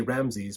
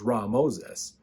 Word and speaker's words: Ramesses: In fact, Ra Moses or Ramesses, we usually say Ramses, but the more proper way to say it is Ra Moses, meaning son of Ra, who is the sun God, the great God.